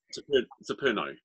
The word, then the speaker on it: Xeperno: Now, I don't know how you need to pronounce this, Paul. Xeperno? Xeperno.